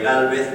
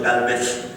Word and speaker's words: Gálvez: se llama Bernardo de Gálvez. Bueno, si ya si lo pronunciamos, si hacemos Gálvez, ya sabemos que el español es de España en vez de Gálvez.